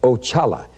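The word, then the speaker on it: Oxala: demons and and uh all witchcraft sex consider axalla now that was the first one i met and that's spelt o-x-a-l-a and it's pronounced ochala and he's the head of all spirits and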